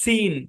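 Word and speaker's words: scene: ই এন ই হ্যাঁ দেখেন এখানে এস সি একসাথে আছে এবং পরে ই আছে তাহলে এই সি টা সাইলেন্ট এবং এই শেষের ই টাও সাইলেন্ট হ্যাঁ ওই যে যখন সাইলেন্ট ভাওয়েল মানে ক্লাস করবেন তখন বুঝতে পারবেন যে ই কোথায় কোথায় সাইলেন্ট হয় ঠিক আছে তো এই শব্দের উচ্চারণ হচ্ছে সিন কি উচ্চারণ সিন আর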